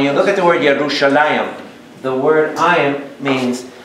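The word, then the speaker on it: ירושלים: Hebrew now when you look at the word yerushalayim the word I am means how do you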